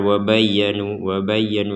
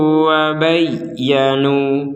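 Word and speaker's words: وَبَيَّنُوا: Wa bayyanu wa aslahu wa bayyanu, jadi harus ditekan wa bayya jadi ditekan, tidak sekedar wa bayyanu itu kan ketekanannya kurang, jadi ini betul-betul ditekan wa aslahu wa bayyanu.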